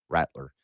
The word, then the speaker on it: Rattler: You're saying Rattler. He's going to rattle everybody. Like a baby's rattle. Rattler.